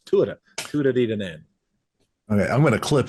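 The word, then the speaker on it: Tuatha Dé Danann: Tuatha, and I got that from an Irishman. I said, how do I pronounce this properly? He says, Tuatha Diadane.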